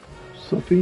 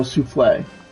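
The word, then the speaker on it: soufflé: Sophie recipe? I'll probably butcher the pronunciation of that. Oh, souffle. Souffle. Jesus Christmas.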